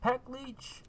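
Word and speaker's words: paklíč: So so you're just gonna take this pack leech safe. That's how you say it in Czech, because this company's Czech.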